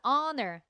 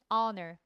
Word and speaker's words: honor: 자 honor. Hor 어 사운드죠. H지만 발음이어야 어 대신에 언써야 됩니다. honor 그죠?